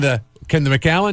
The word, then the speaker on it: The Macallan: Can the Macallan do that?